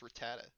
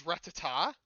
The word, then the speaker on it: Rattata: No, no, no. Rattata. Rattata. Rattata. It is a Rattata. I refuse to accept anything else. It's Rattata. That's how Ash says it. He says Ratata.